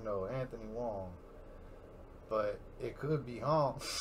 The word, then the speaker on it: Hoang: always his channel and anthony wong y'all see it right here that's how you spell it h-o-a-n-g you know what i'm saying anthony wong yo man my bad